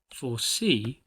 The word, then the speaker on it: foresee: Foresee is a word we use to make predictions. When you say this word, emphasize the second syllable.